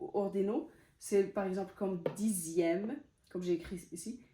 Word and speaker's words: dixième: c'est par exemple comme dixième comme j'ai écrit ici dixième deuxième en fait c'est dans les la plupart c'est dans les nombres en fait quand le X se prononce z z et on va voir